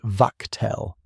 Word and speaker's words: Wachtel: The unit that ran the bombardment was a Luftwaffe formation, Flak Regiment 155, under a colonel named Max Wachtel, pronounced Wachtel.